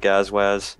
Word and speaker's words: Gazwaz: How do you pronounce that? Like, I'm sitting here before the show, I'm like Gazwiz. Yeah, there's a lot of different pronunciations for it, but I just go with Gazwaz.